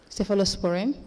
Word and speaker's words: cephalosporin: Cephalosporin?